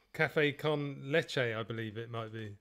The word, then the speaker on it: café con leche: Yeah, I think I've got my wife to thank, because she last week she said it's leche because I said lesh.